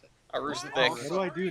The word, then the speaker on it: Aroostook: that's how you pronounce it. Aroostook.